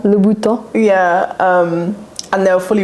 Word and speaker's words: Louboutin: Louboutin. Louboutin.